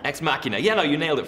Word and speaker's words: Ex Machina: But How would you pronounce it? You are terrible, Muriel. Ex machina? Ex machina. Ex machina.